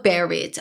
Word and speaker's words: buried: 발음교 자체를 보시면 아시겠지만 유 소리가 없고에 소리가 들어가서라고 발음해요. 얘도 baried.